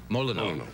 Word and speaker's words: Molyneux: And, I probably will mispronounce this name. Molyneux. Was that right? Molyneux? Molyneux.